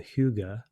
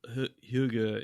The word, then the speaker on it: hygge: but in Sweden, they have a thing called hygge, which Brett maybe hygge, I believe, Hygge. Yeah, okay, that's right. Yeah, it might be pronounced.